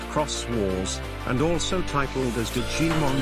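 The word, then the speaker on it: Xros Wars: Digimon Fusion, known in Japan as Digimon's Rose Wars, Digimon Kurosu Wasu, pronounced Cross Wars, and also titled as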